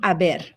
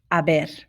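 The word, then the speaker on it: haber: ignoring that h because the h doesn't have any sound in spanish just ignore it say it again aber that means there is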